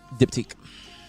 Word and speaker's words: Diptyque: Diptyque.